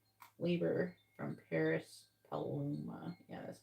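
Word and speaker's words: Paris Paloma: on the the lyrics the song labor by Paris pluma labor from Paris paluma yeah that's how you say it so they're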